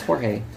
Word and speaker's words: Jorge: Yeah, it's Jorge.